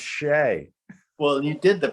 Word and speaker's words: Shea: it says and they're like nope it's pronounced shay well you did the pronunciation on the back